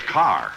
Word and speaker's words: Kerr: isn't it yes but in England it's pronounced car oh just like here